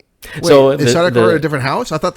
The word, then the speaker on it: Sardaukar: Sardaukar. I really butchered it earlier. Sardaukar.